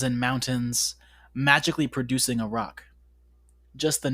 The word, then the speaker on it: roc: just say magically producing a rock uh listener it's spelled roc basically think like giant bird like bird version of dragon um but anyways we can